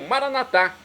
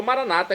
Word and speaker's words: Maranata: a vinda de Jesus, do dialeto de Jesus, o aramaico Maranatá, como dizemos nós católicos, ou Maranata, como dizem nossos irmãos separados, os evangélicos ou protestantes. Não importa a pronúncia, o significado é o mesmo.